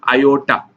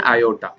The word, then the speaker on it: iota: हम बोल दिए i, जिसको हम प्रोनाउंस करते हैं आयोटा, है ना। i को हम बोलते हैं आयोटा, क्यों है, मतलब वो